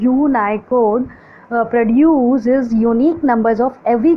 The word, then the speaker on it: Unicode: next है data representation, यूनिकोड pronounce as यूनाइकोड produces यूनिक numbers of